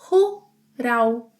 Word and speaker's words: rural: And let's not overlook the final L sound that in Brazilian Portuguese is often pronounced as U. Rural, rural, rural.